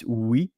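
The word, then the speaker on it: oui: uh which is a similar in pronunciation the w w so o UI yes it's wi and then that's the word to say yes but there is also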